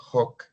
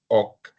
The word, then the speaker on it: hoc: Você pode pronunciar esse H, hck ou rock, né? Eh, é bom que se pronuncie na consagração mesmo, né? O padre diz rock est en in corpusm. Então, esse rock tem que ser dito rock, né? Não é oc.